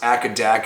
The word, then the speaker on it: AC/DC: made me realize that ac/dc is pronounced acadec ax in Australia so that's kind of